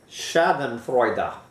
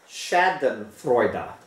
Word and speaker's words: Schadenfreude: German by the way so how do you pronounce this damn word Shad Freer Shad Freer Shad Freer Shaden frea Shaden frea Shaden Freud okay just so uh I might as well